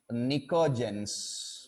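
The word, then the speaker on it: pnictogens: nitosen family also called nicodens p is silent p n i c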